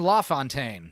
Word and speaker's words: LaFontaine: Or is it, how did he pronounce it? Don Lafontaine. That's how he says it.